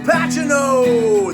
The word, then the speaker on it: Pacino: camino now papa jake he had trouble pronouncing the name al pacino it's pachino this year we've had